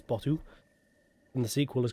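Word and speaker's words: BOTW: That is how it's pronounced, B-O-T-W, it's Botu.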